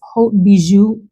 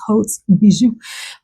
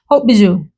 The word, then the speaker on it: Haute Bijoux: This is from House of Sillage, and it's Haute Bijoux. Hope I pronounced that right. Sometimes I've said the S, Hauts Bijoux. Haute Bijoux.